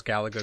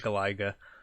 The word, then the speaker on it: Galaga: my uh gaming ai professor that calls galaga galaiga oh did anybody tell him he's pronouncing it wrong um no and i